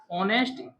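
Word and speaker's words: honest: एन का उसे करेंगे हमेशा याद रखना साइलेंट रहेगा h1 या जब भी ओ से पहले हा का उसे किया गया वो किसी भी लेटर में ओ से शब्द में शब्द में ओ से पहले हा हमेशा साइलेंट होता है तो ऑनेस्ट जो है इसका भी वो साउंड है स्टार्टिंग फर्स्ट लेटर तो हा से है लेकिन साउंड कहां से ए रहा है ओ से ऑनेस्ट ऐसे ही तो ऑनेस्ट लिखा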